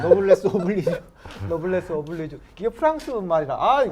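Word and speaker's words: noblesse oblige: 사실은 우리 지금 이 아르누보 계신 분들한테 우리 시민들이 노블레스 오블레주를 조금 실천해 주시면 발음 다시 한번요. 노블레스 네, 노블레스 오블리주.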